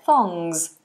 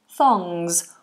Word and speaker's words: thongs: so just pay attention we have th between the teeth song and it's a NG so the tongue goes up to the back thongs and a zed thongs thongs or if we're talking